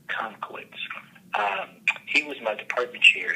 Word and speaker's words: Tomkiewicz: Yeah, I'll tell you, one of my best mentors is Dr. Joe Tomkowitz. If you need to spell it, that's Tomkiewicz. Joe Tomkowitz.